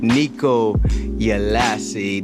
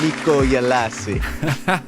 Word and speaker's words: Nikko Ielasi: Nikko Ielasi. That's right. I said it right, you know. So, without further ado, hold on, I'm gonna get it right. Buenos Aires, Senor Nikko Ielasi.